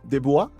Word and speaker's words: DeBlois: El señor Din de Bois, me imagino que es porque es canadiense. Entonces, de bois pronunciación francesa.